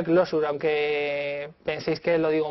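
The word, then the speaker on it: Clojure: Se pronuncia Closure, aunque penséis que lo digo mal.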